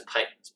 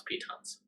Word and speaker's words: pitons: dagger and pitons well he says pythons but let's pronounce pitons uh and uh yeah